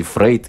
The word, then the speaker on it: Фрейд: тоже из области неопределенности: Фрейд или Фройд, это одно и то же спрашивают у нас. По-моему, по-русски закрепилось Фрейд. А в английском варианте Фройд говорят, я знаю. Да, то есть это разное... А произношение немецкой фамилии.